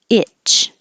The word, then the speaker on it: itch: cockroach and plural cockroaches itch and the vowel is because if the tongue is too high it will sound like each so remember this is